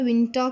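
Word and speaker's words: Winter: है, लेकिन इसमें अच्छा खासा जो है वो साइलेंट किया जाता है, विंटा करके इसको पढ़ेंगे।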